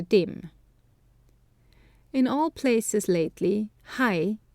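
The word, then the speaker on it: はい: In all places lately, hai, yes, has been pronounced he, chi, na, ne, to Ito's great contempt. It sounds like an expletive or interjection rather than a response, and seems used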